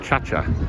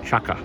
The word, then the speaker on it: Chaka: So today we've come to Lake Chacha, which is spelt as Lake Caca, unfortunately not pronounced that way, and anglicised as Lake Chaka.